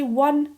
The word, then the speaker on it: one: We would say a one-eyed pirate because although the word one starts with an O, which is a vowel, we say one w is a w sound, so that's a consonant sound.